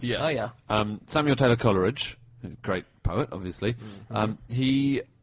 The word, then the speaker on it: Coleridge: And in his own poems, he rhymes it with Polar Ridge, Scholar Ridge, and the whole ridge.